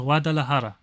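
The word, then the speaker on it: Guadalajara: It's it's it's pronounced wadahara.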